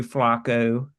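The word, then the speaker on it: Flacco: the storyline of Flaco or Joe Flaco if you want to say it like you're from Baltimore Elite quarterback As Trump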